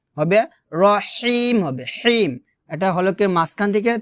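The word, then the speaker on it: ٱلرَّحِيمِ: আমরা যে ভুলটা করি সেটা হচ্ছে আর রহমানির রহিম বলি আর হবে না হবে আর রহবরহ হলকের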